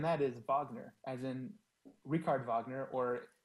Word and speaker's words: Richard Wagner: is Wagner, as in Richard Wagner, or if you're going to pronounce it the American way, Richard Wagner.